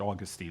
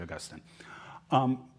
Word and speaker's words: Augustine: You may pronounce it Augustine, I don't care. I say Augustine.